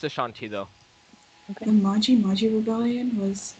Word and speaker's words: Ashanti: Is it Ashanti or Asante? There's different ways of spelling it. Different people do it differently. It's pronounced Ashanti though.